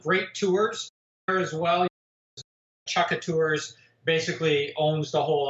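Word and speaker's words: Chukka: you mentioned curs I don't know how to spell that yeah it's c h u k Ka chucka okay is that a local outfit yes chucka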